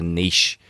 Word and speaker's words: niche: the world called a niche market, right? Niche is a French for gap, or niche as the Americans call it. Sorry, if you're listening, Yanks, that's not how you say it.